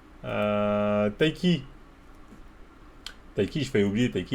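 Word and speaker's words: Tayc: Ah, Taïsi, putain, pourquoi je dis c'est Taïsi, c'est vrai, mais c'est Taiki. T-A-Y-C.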